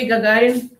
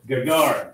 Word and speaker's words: Gagarin: It's a Soviet cosmonaut, and I want to, I call it Gagarin, but that may not be the correct pronunciation. How do you pronounce that last name? Yuri Gagarin. Gagarin.